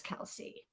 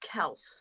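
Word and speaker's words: Kelce: to be pronounced that his father changed it it's supposed to be pronounced Kel oh really yeah but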